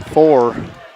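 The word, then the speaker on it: Foor: 4. That's F-O-O-R. Pronounced 4, I was told.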